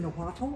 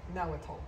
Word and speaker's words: Nahuatl: And this is in Nahuatl, which I'm not pronouncing correctly. Nahuatl.